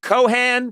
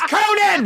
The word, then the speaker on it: Conan: I just said Conan. So then I wait near the thing, and then they went, Cohan. And I'm like, I just hosted the Oscars. It's Conan, and I want the Haley Bieber smoothie.